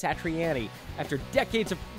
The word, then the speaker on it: Satriani: take his word for it and say it's satriani after decades of mispronouncing it i'm trying really hard to change